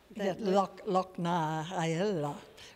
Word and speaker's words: Loch na hEala: And how do you pronounce that Lochnaella, which is the Irish name for Swan Lake, but it's with an Irish dance theatre company called Tioch Darsa.